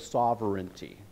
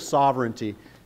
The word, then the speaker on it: sovereign: this say Sovereign one you have to say it that way s it has to have three syllables okay if it doesn't have three syllables does not qualify as a theologically acceptable word okay so you have